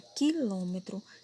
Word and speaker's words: quilômetros: encontrei a palavra quilômetros a palavra quilômetros ela é proparoxítona mas ela é polissílaba ela tem 4 sílabas certo aqui na nossa